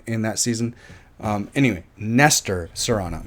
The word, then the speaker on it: Nestor: I see it I Serrano Nestor not Lester Nestor Nestor Serrano great actor I like him a lot I liked him in 24 he was so great in that season um anyway Nestor Serana not Lester Serrano